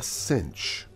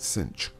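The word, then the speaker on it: sinh: the hyperbolic sign and we call that the cinch cinch okay and actually probably pronounce uh to pronounce pronounce it it probably pronounces better like that cinch um anyway it's defined to be e to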